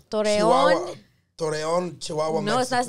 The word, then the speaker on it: Torreón: It's Toreno. Torreón.